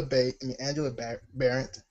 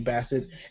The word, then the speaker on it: Bassett: Angela Barrett. I said her last name wrong. And the other one, thank you, Bassett.